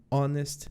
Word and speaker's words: honest: som de consoante hospital mas olha só an honest man an honest Man começa com um som de vogal apesar de ter o h o importante aqui quem